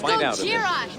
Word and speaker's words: Gojira: Like, they make it so Godzilla gets called Godzilla because a reporter mispronounces the name. And it's Gojira, you moron!